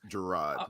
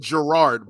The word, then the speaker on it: Jerrod: okay first of all can we make sure we pronounce the man's name correctly it's jerrod um no you said gerard both of you did it's let's treat the